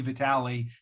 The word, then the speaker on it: Vitali: steps in i know vitaly has four different pronunciations of his name but in this broadcast they mentioned it will be vitale unlike in germany um